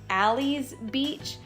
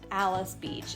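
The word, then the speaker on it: Alys Beach: into another world and i know the sign may look like it should be ally's beach but it's actually pronounced alice beach and this area is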